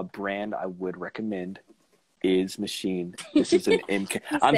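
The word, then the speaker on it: Maschine: show you what this but machine it's spelled with an s like it's like machine but it's s and it's by native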